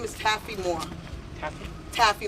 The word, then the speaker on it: Moore: Hello, my name is Zaire Moore. How do you spell that?